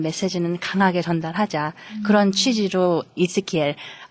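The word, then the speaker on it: Ezekiel: 그런 취지로 이스키엘, 에스겔의 영어 발음이 이스키엘이에요.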